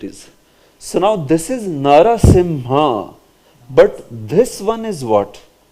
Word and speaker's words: Narasimha: is pronounced as Sim so if you add Nara in front of it narasimha narasimha sometimes narasimha is also written